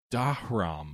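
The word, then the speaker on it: Dharma: Dahram, I think is how you pronounce it.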